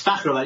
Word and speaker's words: Fakhravar: How do you pronounce your last name? It's Fakhravar.